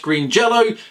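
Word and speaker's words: Green Jellÿ: And finally, we have a story of Green Jello. Yes, I know it's spelt with a Y, but it is pronounced Green Jello.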